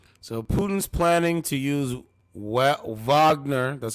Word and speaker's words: Wagner: So Putin's planning to use Wagner, that's how you say it, Wagner fighters to